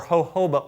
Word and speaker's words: jojoba: You do 1.5 ounces of jojoba oil, or jojoba oil as many say, correct pronunciation, grapeseed oil, cedarwood oil, rosemary oil, and sage oil, 30 drops of each of those.